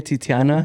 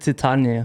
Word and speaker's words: Titania: know um i was listening to you say titiana that's not her name and that's how i pronounce it in my head too trust me i think you want to add that second t it's just titania man we got we got a great preview